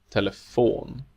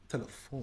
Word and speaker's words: telefon: syllable. Telefon, Telefon.